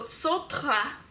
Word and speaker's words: Sartre: Also, my philosophical ethics teacher suggested a book by Jean-Paul Sartre? Just say it the French way and be pretentious, whatever. Called Nausea. So Sartre, we're gonna say his